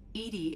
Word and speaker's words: EDI: are you named Edie Edie is the phonetic pronunciation of EDI that is an acronym for enhanced defense intelligence let's call her bob